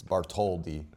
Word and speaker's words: Bartholdi: it must not be Bartholdi, like I thought it was. That's how my father pronounced it. The Italians will tell me, oh, you don't pronounce the H, and it's Bartholdi.